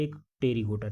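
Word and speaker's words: Pterygota: गोटा और होता है एक टेरी गोटा ठीक है ए साइलेंट है ध्यान दीजिएगा ए और प साइलेंट है ठीक तो य य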